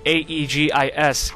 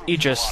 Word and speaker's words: aegis: be pronounced Feen like a e g i s egis that's pronounced egis not Aegis or d a e